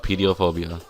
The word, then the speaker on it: pediophobia: It's how it sounds and how it's said. Not pedophile, pediophobia.